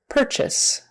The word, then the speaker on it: purchase: just a d positioned purchase purchase again the UR is pronounced like an eer R purchase purchase instead of